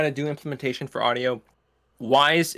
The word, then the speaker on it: Wwise: do implementation for audio, Wise, it's spelled WWISE, so it's just the word Wise with an extra W in front.